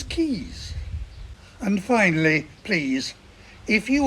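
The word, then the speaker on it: Caius: John becomes Sinjin and tires College Cambridge becomes keys and finally please if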